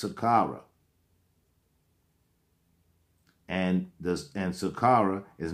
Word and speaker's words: Saqqara: is spelled SAH a are aah but it's pronounced Saqqara and this and sakara is now known as